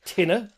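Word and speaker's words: tine: Tina t i n e.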